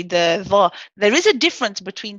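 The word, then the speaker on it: ظَ: We pronounce this as Dha, Dha.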